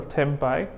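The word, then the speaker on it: tempi: three different tempo and that's how you pronounce the plural temp I there are three different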